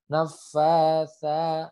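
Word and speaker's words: النفاثات: Nafasa. Nah, fa-nya panjang kemudian huruf sa. Huruf sa itu makrojnya sama dengan huruf zal. Ujung lidah bertemu dengan ujung gigi seri atas.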